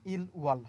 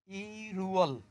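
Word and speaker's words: 일월: বাট এখানে কথা আছে, আপনি যদি এখন এটাকে পড়েন ইল ওয়াল হবে না। কেন হবে না? ওই বাসিমের কারণে উচ্চারণ চেঞ্জ হয়ে যাবে।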